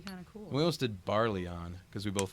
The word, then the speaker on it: Barelyon: just like huh Oh first he pronounced it like in a French way like barely own yeah oh my go that sounds actually kind of cool we listed barley on cuz we both like